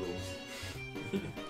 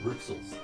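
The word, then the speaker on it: Rouxls: kind of cool yeah rules garden it's pronounced the rules i love that because i was always saying that every time i watched the delta ring player room it's like everyone kept saying ruxels yeah it's like isn't it obvious um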